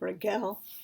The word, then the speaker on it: Rachel: the Dutch traditional pronunciation, the CH is kind of like a hard guttural GH. I'm told most modern women in the Netherlands pronounce it with the English or the French pronunciation instead of Rachel.